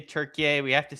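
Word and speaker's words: Türkiye: I still don't I still don't I still don't pronounce it Turkeye. All my All my friends who are Turkish just say Turkey.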